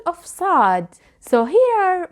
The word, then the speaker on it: ص: To pronounce sad, you can start with the S sound and then you try to lift the back of your tongue.